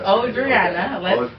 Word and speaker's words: Ojrianna: Yo, man, let me try to introduce y'all to Ojrianna, man. Say hello to the people, man. Well, my name is Ojrianna. Ojrianna, you know. Oh, no. Oh, I said O first? Yes, it's Ojrianna.